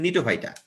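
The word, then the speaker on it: Gnetophyta: তাহলে দেখো, কণিকা দিয়ে হচ্ছে কনিফেরোফাইটা, নিয়ে দিয়ে হচ্ছে নিটোফাইটা, যে জিএনই না, জি উচ্চারণ হয় না, এটা অ্যাকচুয়ালি নিটোফাইটা।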